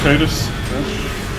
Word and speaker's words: Titus: It's pronounced Titus.